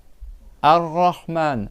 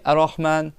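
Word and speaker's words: الرحمن: Et tu dois le doubler. C'est pas tu dis arraan, c'est rahman. Tu fais une cha tu fais deux r à la suite. Un premier sans sans voyelle et un deuxième R avec le son A.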